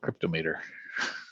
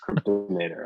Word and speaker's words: Cryptomator: Kyle, do you want to talk to us about Cryptomator or Cryptometer? How do you say it? I guess that's my first question for you. Yeah, I typically call it Cryptomator. Cryptomator.